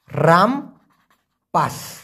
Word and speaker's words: rampas: RAMPAS, উচ্চারণটা হবে রামপাস।